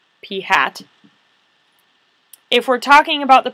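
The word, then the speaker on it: p̂: So it's the lowercase letter P with a little hat on it, and you would actually pronounce that P hat.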